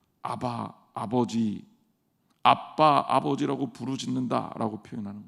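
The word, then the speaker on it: אבא: 그래서 이 아빠라는 아빠는 어린아이의 언어다. 그래서 되게 재미있는 게 우리말하고 실제로 비슷하잖아요. 그렇죠? 히브리어로 아바, 아빠. 정확하게 얘기하면 아브라는 단어가 아버지라는 뜻이거든요. 근데 아이들이 이걸 발음하게 되면 아빠 이렇게 발음하는 거예요.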